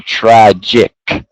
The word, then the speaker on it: tragic: very good uh now this time we need to be careful of the C it makes that uh k sound so like a c so tragic tragic okay that's definitely